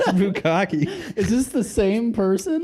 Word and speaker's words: bukkake: For double consonants in Japanese words, you pronounce it at the end of the syllable, then completely cut the air off and pronounce it.